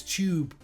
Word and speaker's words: tube: So, because you're not pronouncing the E, it's a magic E. So it's tube.